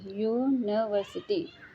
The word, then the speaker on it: university: is a university student, इसका यूनिवर्सिटी का pronunciation क्या हो रहा है, य, ठीक है, इसीलिए यहाँ एन नहीं लगेगा, इसका प्रोनाउंसिएशन य हो रहा है, यूनिवर्सिटी, इसीलिए यहाँ एन ए लगेगा, ठीक है।